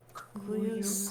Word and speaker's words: cuius: Cuius latum. Yep. So the J is a Y.